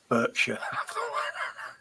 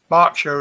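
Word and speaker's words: Berkshire: at the moment Burkshire barkshire as we call it oh not bursha that's the American pronunciation bur but anybody from Barsha will call it barkshire I'm sorry I'm a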